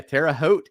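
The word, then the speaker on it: Terre Haute: butchered that town but yeah Tera hot Indiana is how you're supposed to say that and there's your Hil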